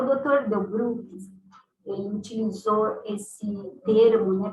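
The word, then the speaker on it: Delbrück: Delbruck, um médico alemão, Delbruck, assim pronuncia.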